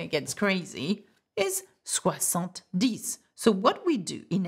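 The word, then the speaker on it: dix: that DS ok this we pronounce not dicks but we said DS 20 is okay that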